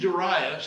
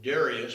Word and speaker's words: Darius: And I know we normally pronounce it Darius, but that is a Western European pronunciation, not the Hebrew.